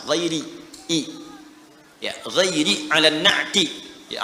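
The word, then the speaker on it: غيرِ: ghairil magdubi alaihim waladin qal jumhuru giri bil jar mayoritas ahli qiraat membacanya menggunakan kasrah giiri i ya giri alati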